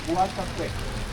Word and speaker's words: Guatapé: And the eagle Saint John, pronounced Guatapé, with an accent on the left.